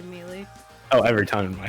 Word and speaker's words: Melee: Yeah, fun fact, for the longest time, I pronounced Melee as Melee. That's... I got to college and they were like, stop saying that. I'm like, what? Melee. I'm like, fine. I'll say Melee.